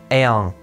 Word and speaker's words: eam: Zum Beispiel haben wir das Wort Erm. Das wird nicht Erm ausgesprochen, wie ich es eben gesagt habe, sondern Ern. Und die letzte Regel, die